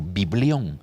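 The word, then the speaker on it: βιβλίον: palabra biblia es un vocablo que viene de la del griego que significa o que se pronuncia más bien dicho biblión y que significa libro así mi libro eso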